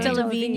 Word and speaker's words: Delevingne: Delevingne.